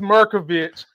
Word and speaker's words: Merkovich: I like to call him Mucinex because that's right. The way it looked like when it's spelled right. On paper, but it is Merkovich, and I thought this was another banging episode, man.